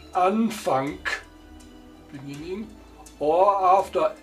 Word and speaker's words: Anfang: Final G, pronounced like K, wie in Anfang, beginning, or after L, where G pronounced like the front ch, freiwillig, voluntary, freiwillig.